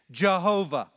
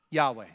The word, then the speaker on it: Yahweh: where the divine name the consonants yhwh were put together with the vowels from adonai and it created this mistaken hybrid pronunciation jehovah which is not the